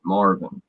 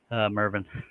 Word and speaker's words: Mervin: Is it actually pronounced Mervin, or is it Marvin? Because my brain's not going to decipher that spelling. I can't tell you. Not till somebody tells me. Mervin. It is Mervin? Yes, sir.